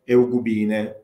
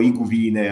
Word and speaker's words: eugubine: che custodisce le tavole eugubine o eugubine o iguvine, a seconda del fatto che si pronuncino alla italiana o alla latina, ma queste tavole saranno